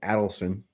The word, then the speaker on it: Adelson: And Sheldon Adelson, it's actually Sheldon Adelson, easy to mispronounce. Sheldon Adelson. And how do you remember that? Because Sheldon Adelson is adding up his money, not aiding up his money.